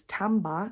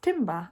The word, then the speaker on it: timbre: So you'll see an interesting thing about this one is the pronunciation is timbre instead of timber, as it looks like it should be.